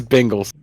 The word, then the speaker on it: Bengals: So, if my name is spelled Ben, you would call me Ban? Are you trying to give me shit for my Bengals pronunciation? Well, I'm like literally looking at Bengals, Ben. Ben. Yeah, not Bang.